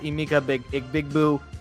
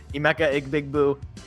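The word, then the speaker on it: Emeka Egbuka: You might not have Emeka Big Boo, or whatever. I'm only going to call him that. I know that's not how his name is pronounced. Emeka Igbigbu.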